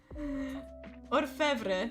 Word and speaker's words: Orfevre: Orfevre. Wait, did I say it right? Because I feel like I mixed up the letters. So let me check. Orfevre.